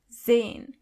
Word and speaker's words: sehen: sehen As you can see, the letter S is not pronounced as S, but more like z. So, you say sehen.